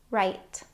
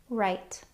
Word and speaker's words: right: There are lots of words that have this IGH pattern in them, and they all make a long I sound.